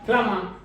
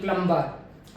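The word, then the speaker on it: plumber: है पलमा फलमा फलमा फलमा में भी जो मेरा ब है व साइलेंट है फलमा फलमा इ पर्सन ड फलंग इन योर हाउस तो जो टूटिया वगर ठीक करता है पानी की निकासी ठीक करता है व फलमा है फलमा ना की प्लंबर अपने इसको प्लंबर बोलते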